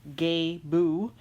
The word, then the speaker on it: Gebo: name right here somewhere I always thought it was Gabe oh I'm not gonna lie to y'all but in all my pronunciation guides I have found recently it's all gay boo so I will trust the experts that have written books and a lot more material on this than I have let's just get cracking